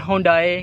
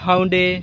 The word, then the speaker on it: Hyundai: कोई लोग कहते हैं होंडाई, कुछ हाउंडे, कुछ योंडे, कुछ होंडाई। ये इट्स अप टू you, what ever the abbreviation it इज़।